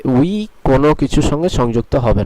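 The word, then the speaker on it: huit: এর উচ্চারণটি হবে ওনস, যেটি নাক থেকে আসতে হবে, এবং এটির উচ্চারণ হবে উই, অথবা যেভাবে আমরা ইংলিশে উই বলি সেইভাবে।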